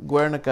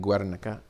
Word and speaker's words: Guernica: Guernica is the big piece, War. Let me make sure I pronunciate that right, because it's actually a town. Yeah, Guernica. I'm pronunciating Guernica.